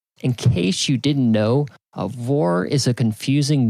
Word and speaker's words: Aurore: "In case you didn't know, Aurore is a confusing name my mom picked for me because it sounded cool. A lot of people don't know that the R-E at the end is silent.